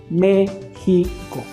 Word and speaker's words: México: a dividir esa palabra se divide en tres sílabas la primera sílaba acentuada entonces vamos a decir al niño que repita la palabra mexico siempre dándole énfasis al acento me pico méxico y le vamos a